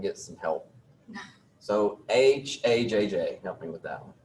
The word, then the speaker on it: Hajj: So HAJJ, help me with that one. English pronunciation? Yes. Hajj.